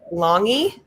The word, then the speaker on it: Lange: Is it Lange? I actually have a friend who has that same last name, and she pronounces it Longy. Longy. Even though it looks like Lange.